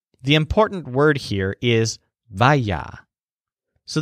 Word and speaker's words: vaya: So when you think of Ir's backyard, the important word here is vaya. So this word sounds kind of like fire, but it's spelled V-A-Y-A.